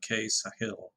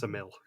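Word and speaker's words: Ksamil: I think it is actually pronounced Samil. It's a silent K, like knife or knave.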